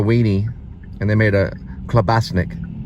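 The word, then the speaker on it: klobasnek: and they made a clasik k l o b a s NE e k that's how it's somewhat pronounced and they put a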